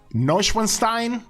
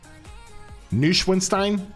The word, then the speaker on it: Neuschwanstein: that Neuschwanstein?